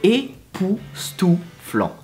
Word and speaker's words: époustouflant: So, époustouflant.